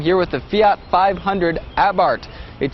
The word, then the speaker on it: Abarth: with the fiat 500 abarth it spelled a be AR th but the H is silent and the a is pronounced ah as in what happened